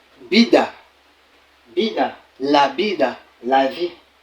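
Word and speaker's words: vida: la vie vous voyez ici là le V est lu est prononcé comme le B en français Bida Bida la la vie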